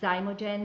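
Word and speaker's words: Xymogen: I love the brand the brand is called zymogen it's spelled with the X okay and we're they're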